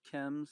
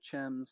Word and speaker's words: Chems: people mispronounce my name it's pronounced Kem's like chemical some people say it's you know gems like it looks C